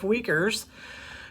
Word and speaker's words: Uyghurs: of the region's native Uyghurs, who, and by the way, that's spelled Uigurs, and it is pronounced that way, who represent Beijing's heavy-handed rule.